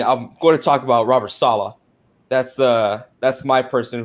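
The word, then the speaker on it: Robert Saleh: because there is no such thing as a robber sailing here it is pronounced robert sala please spit some respect on that name it's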